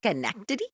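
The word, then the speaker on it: Schenectady: No, that's the way it's Oh, it's spelled chenectity, but it's pronounced skenkity, right?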